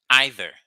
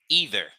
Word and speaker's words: either: Jean-Rabel doesn't either. Or Jean-Rabel doesn't either. Vous voyez la différence? Either, c'est la prononciation américaine. Either, c'est la prononciation britannique.